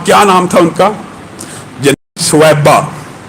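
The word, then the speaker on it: ثویبہ: سویبہ، جس کو بعض اردو دان کم علمی کہہ لیجئے یا عربی تلفظ سے ناآشنائی کہہ لیجئے صوبیہ کہتے ہیں۔ صوبیہ اور سویبہ میں زمین آسمان کا فرق ہے۔ ان کا اصل نام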